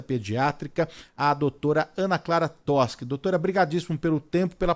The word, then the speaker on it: Toschi: É doutora, _, Ana Clara, se escreve Toshi, né? Mas se fala Toschi. Isso, Então é Toschi, doutora Ana isso. Clara Toshi.